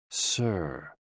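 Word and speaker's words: 呬: SI, pronounced like sir, with a slow exhale, which is associated with the lungs.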